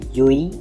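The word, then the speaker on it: Llull: have yet played in the NBA namely Serio yui please pronounce a yui not L it's dou l in Spanish is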